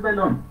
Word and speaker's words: Bellón: Como tal es Belón. Ese es un apellido siciliano. Pues la doble consonante no se pronuncia.